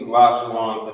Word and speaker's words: Lashawan: Instead of saying Lashawana, it would just be Lashawan, but because of the connector that's here on the bottom.